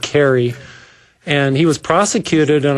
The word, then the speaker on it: Kahre: The gentleman's last name is spelled Kahre, but I believe he pronounces it Carey.